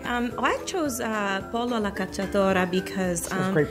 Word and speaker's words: pollo alla cacciatora: I chose pollo alla cacciatora because That's great pronunciation.